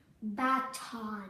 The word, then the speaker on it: baton: So that O is going to say aw. So that syllable is going to say ton. Baton. Well, no, it's not going to say ah, not ba. It's Baton. Yes. Baton. You're saying on the second syllable.